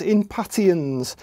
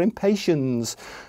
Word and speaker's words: Impatiens: It comes from the word impatient. So these are Impatiens.